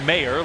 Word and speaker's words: Mayer: You say it mayor, like mayor. So, the way I remember it, he's the mayor of tight end town.